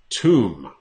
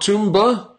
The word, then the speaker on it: tomb: There's no B pronounced in this word. Tomb. Tomb. Not Toomba. Tomba. Nope. tomb.